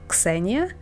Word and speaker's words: Ksenia: But in Ukrainian it's Ksena, and I actually never said on my channel my name, how to pronounce it correctly. It's Ksenia. I know it's hard, but so yeah.